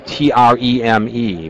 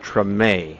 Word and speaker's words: Treme: Hey everybody, welcome to the opening ceremony for TREME, T-R-E-M-E, but it's pronounced TREME. It's not short for extreme, it's TREME.